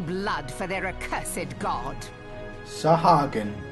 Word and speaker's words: Sahagin: Sahagin. That's how you pronounce that.